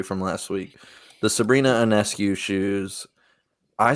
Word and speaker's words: Ionescu: Ionescu. Ionescu.